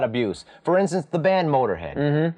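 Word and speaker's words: Motörhead: For instance, the band Motorhead. They use an umlaut. It doesn't change the way you say it at all. Yeah, Motirehead?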